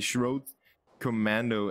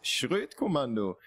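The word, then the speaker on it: Schroet Kommando: the admins to change it to SK, the Schrodt Commando, as you would pronounce it in English. The German pronunciation is way different. It is Schrodt Commando.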